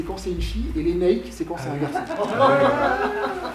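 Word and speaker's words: Lénaïg: Donc, l'Enaïk, qui s'écrit L-E-N-A-I-G, parce qu'en breton, on va l'écrire comme ça. Il y a des gens qui prononcent l'Enaïg. Bon, mais pourquoi pas ? Pour moi, c'est impossible. Phonologiquement, c'est impossible. Pourquoi ? Parce que assourdissement de la consonne en finale.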